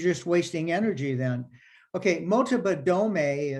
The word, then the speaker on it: Motobadome: Okay, Motobadome is MOTOBADOME. The E's pronounced as an A, Motobadome.